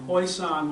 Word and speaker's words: Hoisan: Taishan is from what I've seen, it's a Mandarin way of saying it. Taishan is the Cantonese way of saying it, and Huishan with an H is the way the locals say it.